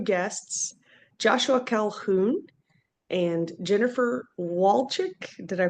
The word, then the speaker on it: Walcik: to have two guests, Joshua Calhoun and Jennifer Walchick. Did I pronounce that correctly? Yes, actually perfectly. But some people call it say Walsick but Walt Chick is the right pronunciation.